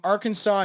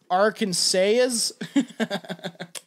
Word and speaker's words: Arkansas: I'd probably pronounce it Arkansas. Yeah, it's not spelled right either, is it? Like, it's not saw. Yeah. No, it's S-A-S at the end. Yeah. So Arkansas.